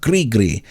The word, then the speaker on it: gris-gris: She told me how to pronounce it with a rolling R, gris-gris.